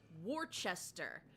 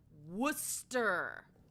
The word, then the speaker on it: Worcester: Indeed, Worcester trips people up. Yes, and you heard me pronounce that correctly. It is not Wararchchester. There is no H in there. It is Worcester or like some people pronounce things like Haverh Hill.